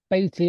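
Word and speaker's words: Baty: Um, Thomas Beatty or Batty or however you pronounce it. Thomas I Batty, like Betty.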